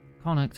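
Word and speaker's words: Connacht: I'm just going to double check my pronunciation guide. Conuct.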